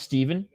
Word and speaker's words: Shtepin: Watch his name be pronounced Steven. It was.